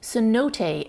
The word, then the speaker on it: cenote: The Mayan word for these sinkholes is this, which I believe is pronounced zanot. But the Spanish had a lot of difficulties with the z sound, so they decided to simplify it to cenote.